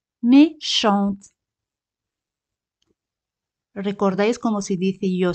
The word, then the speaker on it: méchante: Pero cuando añadimos E, la T se pronuncia. Méchante, méchante.